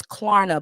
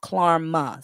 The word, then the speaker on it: Klarna: Jill know the people using Klarna and Afterpay, and it's Klarna, Blade. It's Klarna, not Klarma.